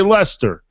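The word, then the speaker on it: Leicester: over in England leester it's spelled leester or Le I don't even how know what you call but they say Lester over in England so shout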